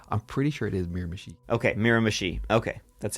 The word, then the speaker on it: Miramichi: Just before you go on, I'm pretty sure it is Miramichi. Okay, Miramichi. Okay, that's how it's pronounced. Miramichi.